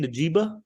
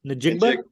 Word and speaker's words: Njigba: Najigba? Njigba.